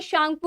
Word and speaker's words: Tsangpo: ठीक है, शोकर, जैसे आप ये शांगपू रिवर था जिसमें आगे में TSANGPO था, तो उसको टी को साइलेंट करके हम लोग उसको शांगपू पढ़ते थे।